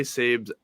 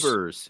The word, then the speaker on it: Sabres: might say I think I might say sabes like off hand every once in a while but I just say it like Sabers you know like that